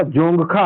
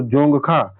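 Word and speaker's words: Dzongkha: आधिकारिक भाषा जोंगखा है दोस्तों, जोंगखा, डी इसमें साइलेंट है।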